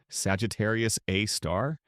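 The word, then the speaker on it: Sagittarius A*: Our galaxy's central black hole named Sagittarius Abe, pronounced Sagittarius A star, has a mass of about 4 million suns.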